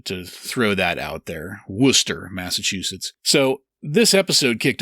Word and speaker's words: Worcester: Worcester, Massachusetts.